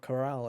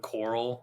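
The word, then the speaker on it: Corel: um off to mount Corral I guess um thank you for pronouncing it right by the way because I hear a bunch of speedrunners call it coral and I'm just like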